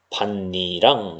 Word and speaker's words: 밭이랑: 그래서 발음이 어떻게 되느냐? 반니랑 이렇게 바뀝니다.